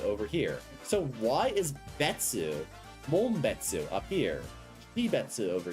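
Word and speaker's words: 別: That kanji is pronounced betsu, but that betsu existed before the kanji was assigned.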